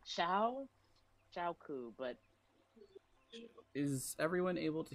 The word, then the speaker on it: Shauku: It's Shauku. Shau as in like shower. Ooh, as in like, ooh, oh wow. And then ku, like we're ku.